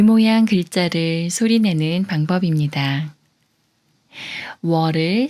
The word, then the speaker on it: 워: 워를 소리내려면 자음 이응이 소리가 없으므로 문에 우와 비슷한 우를 먼저 발음하고 어스의 어와 비슷한 어를 빠르게 붙여서 소리냅니다.